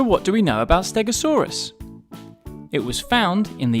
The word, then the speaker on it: stegosaurus: learn all about stegosaurus how do you say that again stare go saw russ can you say it with me stare go saw so what do we know about stegosaurus it was found in